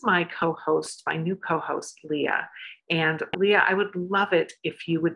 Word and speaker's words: Lya: first my name is leah it's not pronounced liar it's spelled l-y-a that unic name came